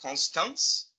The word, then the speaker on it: Constance: a research fellow also at the University of constance is that how you say it no yes